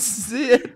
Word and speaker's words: Zed: Right, which is the British version of Z, which is not pronounced Z. Right, but also surprisingly is not how we got on discussion. No, the whole Zed conversation unrelated.